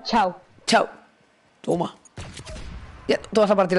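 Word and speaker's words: tchau: chau chau se escribe se escribe techado pero se pronuncia chau chau toma todas a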